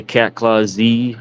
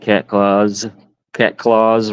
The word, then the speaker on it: Clawz: So if you want to correctly pronounce it, it's not, I know some people say cat claw Z rod holders. I just pronounce it cat claws rod holders, LLC.